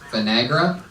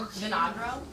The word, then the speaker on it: Vinagro: Vinegra? How do you say it? Vinagro.